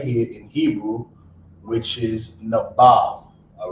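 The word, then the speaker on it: נבל: But the word in Hebrew is nabal, right?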